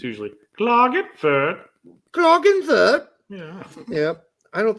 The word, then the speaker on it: Klagenfurt: So you pronounce that so differently than I would have. It's usually Klagenfurt.